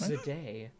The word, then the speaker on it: Zendaya: pronounce it? Zendaya. It's No, Zed- Zendaya. It's just Zendaya.